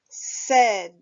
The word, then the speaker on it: said: so the word is said say said when you are reading the word said we pronounce the letters a and i with the e sound when writing the word